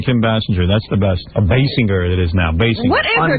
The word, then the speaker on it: Basinger: Bass singer. Basinger. Like a bass singer.